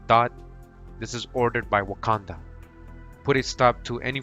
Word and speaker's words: Wakanda: In pronunciation, Wakanda, just like in the movie.